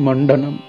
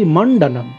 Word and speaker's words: মণ্ডনম: মম শিরসি মণ্ডনম, অনেকে কিন্তু ভুল উচ্চারণ করে বলে কি মম শিরসি মুণ্ডনম, মুণ্ডন মানে মাথা নাড়া করা।